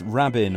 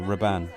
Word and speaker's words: Rabin: his name sorry um it's Rabin or raban depending on um on where your pronouncing it um this is a